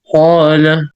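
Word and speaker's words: قال: And as we will know, that this Alif, we pronounce it with heavy sound when there's a heavy letter before it. Am I right? Yeah. Yeah. So can you please pronounce this one? Qala.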